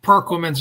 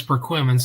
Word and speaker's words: Perquimans: People say Perquimans. No, it's Perquimans.